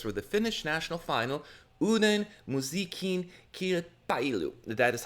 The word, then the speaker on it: Uuden musiikin kilpailu: The Finnish national final, Uuden musiikin kilpailu, that is how you pronounce it, took place yesterday.